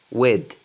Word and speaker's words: with: Si vous y arrivez pas, bah, laissez tomber et prononcez le TH D, comme un D. With pleasure.